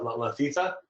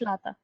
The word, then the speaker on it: Lata: Ali and Haritha, and I do not know how to pronounce Latita. no, that's Lata.